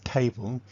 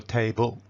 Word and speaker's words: table: So 'table' is always stress on the first syllable, and unstressed second syllable. So it's always 'table' its never 'ta-ble' or 'tay-bul.'